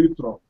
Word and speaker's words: jutro: Good morning, dobro jutro. Dobro jutro. Dobre jutro. Oh, so difficult. And the J is pronounced like a Y in English.